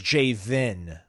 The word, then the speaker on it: Jayvan: So it is Jayvan. Like the vehicle identification number, VIN.